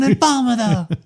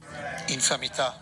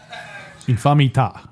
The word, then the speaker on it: infamità: So this is the Italian pronunciation. Infamità. Infamita. Did you hear that, Alex? Infamita. That's it. Infamità. He puts the emphasis on the fam, which makes sense if it's family.